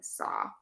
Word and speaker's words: saw: So big tip for you, the word law and saw, we don't pronounce that last W. Law and saw.